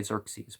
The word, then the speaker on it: Xerxes: the ruined Hall of Sir says I know people say Xerxes but I don't know the I don't know the Greek I'm trying to make Greek pronunciation so these place and